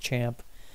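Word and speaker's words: XAMPP: that I grabbed here was this thing called champ which is XA MP piece pronounced champ and it stands for cross-platform Apache Maria dB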